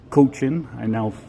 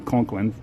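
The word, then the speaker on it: Cochin: If you didn't see my last video of the coach-in, I was informed how to pronounce that. I kept saying Conklin for whatever reason. Coach-in, Saskatchewan's only lighthouse.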